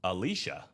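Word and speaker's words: Elisha: Both names of Mississippi pronounced Alicia like the girl's name.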